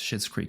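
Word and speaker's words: Schitt's Creek: do thank you so much so it is pronounced shit's creek okay I was saying it right for twister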